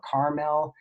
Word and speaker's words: caramel: that was talking about that word caramel or caramel people have pronounced a different way she also listed pecan